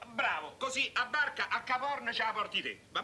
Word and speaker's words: Capo Horn: Si chiama Capo Horn. Capo Horn. Ma perché lo dici così? Perché la... Ma no, l'H non si pronuncia, lascia stare, su, forza.